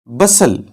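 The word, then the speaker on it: bustle: पलन केन यानी डोली बसल बसल यहां पे टी को साइलेंट रखा जाएगा बसल इसका मानि है शुगल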